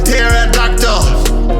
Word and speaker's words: pterodactyl: Tell the truth to the kids, we get violent, just like pterodactyl. The P is silent.